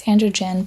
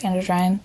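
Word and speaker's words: androgyne: Moving on, we've got androgen that I always want to pronounce androgen, but I did look it up. So apparently it's pronounced androine anyway.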